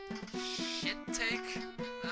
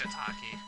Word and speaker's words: shiitake: So let's go to Shittake. It's probably pronounced Shiitake. Shiitake Isle. I don't think anyone would say Shittake. If it was pronounced that, I don't think anyone would want to go.